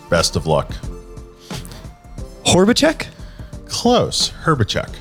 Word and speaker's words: Horbaczek: Horbaczek? Close. Horbaczek. Horbaczek. Okay, so the O is like an E.